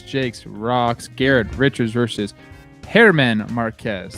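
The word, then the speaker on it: Germán: rocks garrett richards versus hairman marquez that's how you say it by the way it's not herman it's hairman hair man marquez that's it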